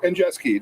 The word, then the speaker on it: Andrzejewski: Andrzejewski. Andrzejewski. Close. And Jeski. Just pronounce the consonant.